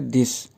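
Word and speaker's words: 的: द, ये जो word द है, इस पे कोई टोन मार्क नहीं है, यानी साइलेंट टोन है, तो इसको हम लाइटली प्रोनाउंस करेंगे द।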